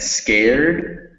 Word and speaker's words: scared: Okay, now with words like moved and scared, remember that those EDs, the E is not pronounced, so it's moved and scared. Moved, scared. And also keep watching out,